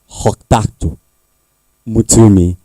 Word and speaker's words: Hoktato Mutumi: Hoktato Mutumi. Dr. I usually would prefer to call her KG because the pronunciation, you need to speak from your throat the way she pronounced it. Hoktato Mutumi.